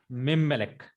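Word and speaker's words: מִמֶּלֶךְ: is put in the first root letter of Melek, and we can say the pronunciation is Mimmelek.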